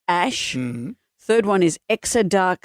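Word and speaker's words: X Æ A-Xii: One is X AEA-X small II, pronounced Ash.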